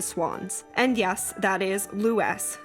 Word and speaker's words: Lewes: And yes, that is Lewes, not Lewes, as is commonly mispronounced.